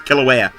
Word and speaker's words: Kilauea: you spell it and I think that I've learned that's how you pronounce to is Kilauea aue a one-day-old smell